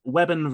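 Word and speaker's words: Weybourne: Most of the episode is filmed at now I'm going to pronounce this the local way of saying it. Webon railway station which is home to a passing loop in the mostly singular track route.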